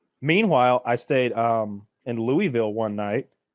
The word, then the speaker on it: Louisville: Meanwhile, I stayed um in Louisville one night with um You stayed